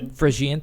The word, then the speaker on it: Phrygian: The Phrygian, is that how you say it? The Phrygian cap. Phrygian, thank you, Chris.